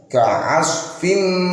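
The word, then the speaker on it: كعصف: Ka'asfin dengung, ini pakai shad, jangan pakai sin, jangan pakai shin tebal, harus pakai shad.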